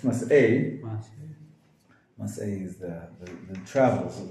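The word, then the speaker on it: Masei: Good, mas'eh, I would add an I at the end of the word mas'eh, M-A-S-E-I, just so you know that it's not mace, it's mas'eh.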